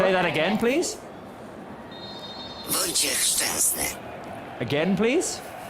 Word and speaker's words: Wojciech Szczęsny: Wojciech Szczęsny. Again, please. Wojciech Szczęsny.